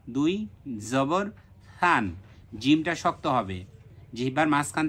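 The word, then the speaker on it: ثً: তান, থা দুই জবর থান। থাটা কি হবে? নরম হবে, থান। আমরা প্রথম ক্লাসগুলোতে যে মাখরাজের উচ্চারণগুলো শিখিয়েছি, এই ক্লাসগুলো ওখান থেকে ভালোভাবে দেখে নিতে হবে। থা দুই জবর থান।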